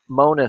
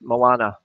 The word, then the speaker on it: Moana: singing mulana songs but as I like to say it momona songs it's the way some American people would pronounce Moana anyway mermaid number three